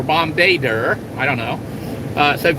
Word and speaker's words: Bombardier: Somebody says the French actually pronounce it like Bombay Deer or Bombardier.